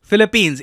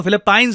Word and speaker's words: Philippines: है इंडिया के लिए, फिलीपींस। इसको फिलिपाइंस नहीं प्रोनाउंस करते हैं हम, काफी बार इंडिया में हम लोग फिलिपाइंस बोल रहे होते हैं।